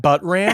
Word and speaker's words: Buttram: voice actor named pat buttram but ram he has a star on hollywood his name is pat buttram yes he's rat how do you spell that uh b-u-t-t-r-a-m just how you say it you know you